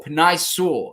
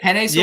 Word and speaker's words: Penei Sewell: Is it Penei Sewell? Yeah, I think that's right. like the pasta.